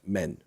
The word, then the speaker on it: Maine: The French departement is pronounced "Men."